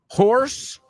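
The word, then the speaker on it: hoarse: Horse, que es un homófono para afónico, right? Horse. Esa se escribe H-O-A-R-S-E, right?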